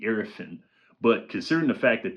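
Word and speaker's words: Iriafen: They got backto-back picks this year and made backtoback picks in Sonia Satron and Kiki Arifin. I've been saying her name wrong. I've been saying, but it's Kiki Arafan.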